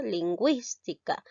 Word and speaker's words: lingüística: que es la wii y la y se pronuncia lingüística estamos observando un caso de concurrencia vocal y